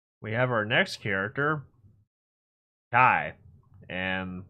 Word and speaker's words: chi: And uh it's actually pronounced as Kai, like Dragon Ball Z Kai.